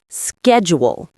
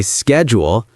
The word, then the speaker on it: schedule: Schedule. Americans say schedule. British schedule. Completely different start to the word.